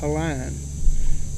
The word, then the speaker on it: Pauline: name was pauline foster nowadays they would pronounce it either erlane or pauline but back then i-n-e was always iron they call her a line and she lived up